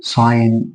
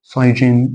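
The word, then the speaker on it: sign: والان ازاي يلا بينا حرف الجي اهو جه قبله ايه اي وج بعده ان يبقى الجي دي مش موجوده فاقول ساين بقول ساين ما بقولش سايجين لا بقول ساين ساين هنا الجي قبلها اي جه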